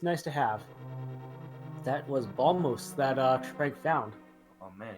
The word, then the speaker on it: Bombos: I think I always called it Bombos as a kid, which it Actually, makes more it sense for me to be might be. Bombos, because when you say bomb, the B is silent.